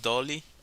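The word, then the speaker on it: Dalí: In Spanish it's Dali. Salvador Dali. Actually, it's all gray, which is kind of fun about this creature. Dolly? Dolly? So you pronounce it Dolly?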